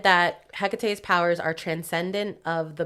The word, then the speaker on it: Hecate: do you know who Hecate is isn't it hakate no no then no it's probably the same person but it's pronounced Hecate so she's a goddess in ancient Greek religion